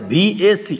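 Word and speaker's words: VAC: কোর্সের নাম হচ্ছে ভিএ অনেকে ভ্যাক বলে এটা ভুল শব্দ সেটা হচ্ছে ভি এ সিসি এভাবে বলতে হবে প্রত্যেকটা শব্দকে উচ্চারণ করে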